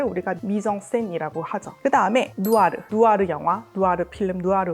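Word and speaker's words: noir: 미정 센이라고 하죠 그다음에 누아르 누아르 영화 누아르 필름 누아르 물이라고 하잖아요 이거 불어 단어 원래는 노아라 하거든요 무슨 뜻이냐면 검은색 어두운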